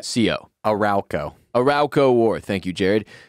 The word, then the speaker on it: Arauco: the majority of the early part of the arauco tell me how you pronounce this word hate this job a-r-a-u i would say c.o arauco arauco war thank you jared he fought and